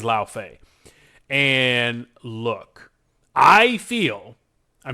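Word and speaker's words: Lai: And I made sure to look up how they expect you to pronounce that ahead of this. And it is La Fay.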